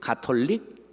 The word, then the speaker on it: 가톨릭: 카톨릭이 아니라 뭐죠? 가톨릭이라고 불러야 돼.